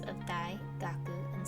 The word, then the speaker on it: 学: kanji is pronounced chu and the second gaku again another review kanji